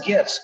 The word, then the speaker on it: GIF: It's hard G, Scott, hard G. Hard G, graphics, GIFs, okay.